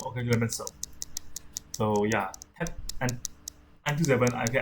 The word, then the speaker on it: Clemenceau: Clemenceau. Yeah, Clemenceau. Okay, Clemenceau.